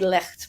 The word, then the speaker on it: Licht: And do you say your last name like the Germans would say it? No, I say it like licked a lollipop.